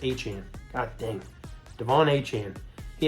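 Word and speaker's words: Achane: aan aan it's aan it's pronounced aan God dang Devon aan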